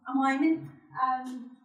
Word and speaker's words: Wieman: And Carl Wieman, is it Wieman or Wyman? Wyman.